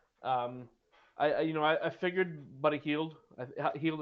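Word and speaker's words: Hield: Heald is how you pronounce his last name, right? Mm-hmm.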